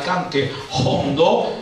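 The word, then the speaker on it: cante jondo: Ecco, e legate proprio alla Settimana Santa e a un canto che deriva dal cante hondo, si pronuncia così con la iota aspirata, che significa profondo, un canto che deriva dal secolo XVIII, la Saeta.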